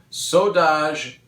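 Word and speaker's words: Saudades: Bands were active again and actually recording again, and one of the ones that was the most pleasant surprise was Extreme Saudage de Rock. It's spelled S-A-U-D-A-D-E-S.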